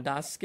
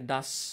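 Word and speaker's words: does: এই ক্ষেত্রেও মনে রাখবো ডাজকে অনেকে মানে ডাজকে অনেকে ডাস বলি বাট দ্যাটস ডাজ ডাজ এখানে দুটো সাউন্ড আমাদের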